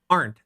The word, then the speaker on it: Arndt: My last name is pronounced Arndt, as in, aren't we having fun?